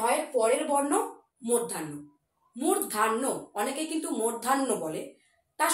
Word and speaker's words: মূর্ধন্য: শব্দ পড়েছিলাম তাহলে ঢ এর পরের বর্ণ মূর্ধান্য মূর্ধান্য অনেকে কিন্তু মূর্ধান্য বলে তার সঠিক উচ্চারণটি হলো মূর্ধান্য অনেক সময় আমরা মূর্ধান্য বলি